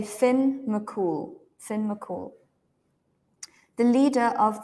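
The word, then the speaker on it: Fionn mac Cumhaill: is like a legend Finn mul and you can say Finn mul Finn mul the leader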